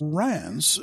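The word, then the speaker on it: Reims: been crown for centuries Rance spelled re Ms is one of the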